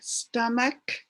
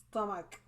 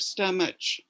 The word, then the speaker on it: stomach: so it's more like stomach stomach yeah it's it's pronounced like a ch but you make a k sound so it's stomach instead of stomach me okay foot and